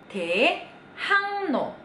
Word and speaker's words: 대학로: 대학로. Huruf G kalau ketemu sama R, G-nya jadi eng juga.